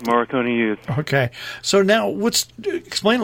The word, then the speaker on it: Morricone Youth: And now, first of all, am I pronouncing the group's name right, or am I wrong? It sounds correct. Morricone Youth.